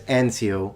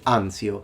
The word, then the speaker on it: Anzio: He says Anzio, we say Anzio.